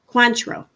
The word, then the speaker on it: Cointreau: Cointreau. Okay. Thank you. I'm pronouncing it wrong my whole life.